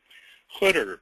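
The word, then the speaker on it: Khidr: of life oh okay hter by the way it's khh d r but the correct Arabic pronunciation is hter hter literally means the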